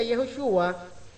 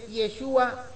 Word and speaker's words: Yeshua: una vez al masia yoshua eh acá se escribe de esa manera pero Nosotros sabemos que es yeshua eh masia yeshua o